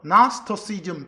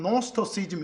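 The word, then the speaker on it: Gnosticism: 근데 거기서 영어로 읽을 때는 맨 앞에 쥐자가 묵음돼요. 그래서 나스토시즘 또는 노스터시즘 이렇게 해요.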